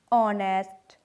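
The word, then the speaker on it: honest: French में एच जो है वो मोस्टली साइलेंट रखा जाता है, जैसे एयर, ऑनेस्ट, आर, ऑनर, इनमें एच जो है वो साइलेंट है।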